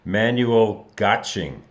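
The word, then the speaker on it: Manuel Göttsching: or Manuel excuse me his name is pronounced man having trouble tonight Manuel gotching and I I had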